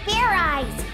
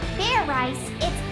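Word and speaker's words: Fairize: that sort of like fried rice idiot it's pronounced fair eyes there's no ice in it what does this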